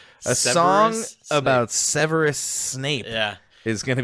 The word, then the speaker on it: Severus: Cerberus? Cerberus. Oh shit! I had an R. A song about Severus Snape.